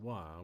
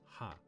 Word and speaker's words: は: In addition, when using wa, word as particle after the noun, we only pronounce wa, but definitely not ha.